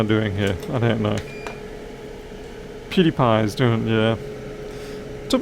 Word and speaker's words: PewDiePie: PewDiePie is doing, yeah. It took me ages to work out how to properly pronounce that guy's name. PewDiePie.